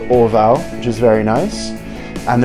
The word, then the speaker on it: Orval: It's actually pronounced Orval, by the way. Not Orval, Orval, however you want to say that.